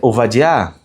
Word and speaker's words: Ovadia: Primeiro, tá aí, ó, na pronúncia ovadiar.